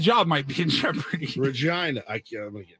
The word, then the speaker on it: Regina: Regina, I can't, I'm gonna get in trouble.